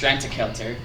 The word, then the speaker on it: Strandagaldur: It's actually pronounced Strantakelter, and it.